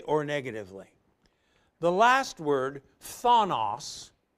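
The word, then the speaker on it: φθόνος: negatively the last word Thanos that's kind of tough to pronounce p-h-t-h Thanos is totally negative ill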